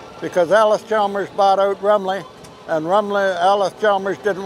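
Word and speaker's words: Rumely: what's this a a r how do you pronounce this Mr Hume Rumley Rumley Rumley Rumley was made back all Rumley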